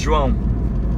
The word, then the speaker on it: João: like in Brazil it's João. Jerome? João. João. It's like the same as You John, can't but in spell it.